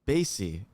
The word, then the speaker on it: Basye: say your last name baze stacey basie okay maureen i should